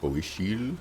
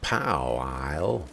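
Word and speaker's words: Powiśle: Like how they pronounce the name of this town. Poishil. Unlike my American pronunciation of Pow Isle.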